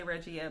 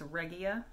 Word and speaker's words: Regia: talking about this and i've been saying it wrong the whole time i say reggia but it's regia i think that's how she said it um six ply cruise